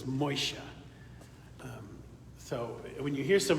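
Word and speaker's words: משה: Moses is Moshe.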